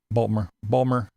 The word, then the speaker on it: Baltimore: Baltimore. That's how they say it down there.